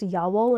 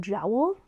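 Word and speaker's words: Jawoll: I discovered that it's pronounced Yawool and not Jowl, which I guess makes sense because it's a German company.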